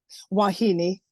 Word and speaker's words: wahine: yeah so so how so how do you pronounce it wahini wahini where and it looks like wah it